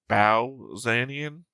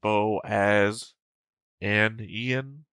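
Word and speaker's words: Boazanian: See, I've been saying Boaz and Ian. Boaznian. So I've been pronouncing it by every 2 syllables, right? Bo as an Ian. And you were saying bow as a BOA sound instead of a BO-AZ sound.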